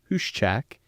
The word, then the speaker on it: Huschak: Today I have with me Huschak from the great company of Koppers.